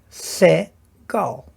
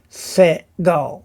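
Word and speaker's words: Segol: And the triangle is a se-gol. Se-gol. So it gives you the se sound.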